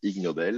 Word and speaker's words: Ig Nobel: les é g nobel donc prononcé ig nobel la voilà les ignobles